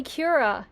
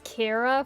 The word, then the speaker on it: Cura: You mean when people call me Cura? Yeah, it's spelled like this. Sometimes captions say it as Kira for some reason.